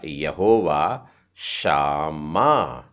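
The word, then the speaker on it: יהוה שמה: तो ये हो गया यहोवा शामा। हल्का सा ह का उच्चारण है, हिंदी बोलने वाले साधारणतः यहोवा शामा बोल देते हैं, और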